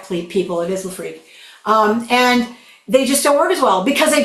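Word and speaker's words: LeFreque: And it is pronounced Lafre, not Lafre, please people. It is Lafre.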